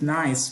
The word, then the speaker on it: N1CE: which uh you know we pronounce it nice but it's actually uh